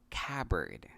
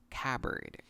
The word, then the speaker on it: cupboard: The P is silent in this word, so it is pronounced cupboard. Again, this word is pronounced cupboard.